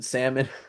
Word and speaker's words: salmon: funny, and he's like, no, it's L silent like in salmon.